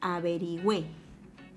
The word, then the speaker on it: averigüé: O también puedo decir averigüé. Si el acento está en la última sílaba, tendría que llevar tilde, ya que es una palabra aguda.